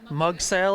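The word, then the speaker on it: Mughsail: This is a blowhole that's pictured in mug sale is how you pronounce that.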